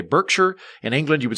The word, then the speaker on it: Berkshire: pronounce things like like names for towns are different like in america we would say berkshire in england you would say berkshire like you you still